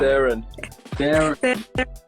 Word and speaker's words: Tharun: Tharun.